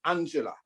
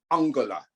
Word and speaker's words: Angela: we victorians refer to the moniford girl as angela in germany it is pronounced angela angela montford angela merkel was applauded for six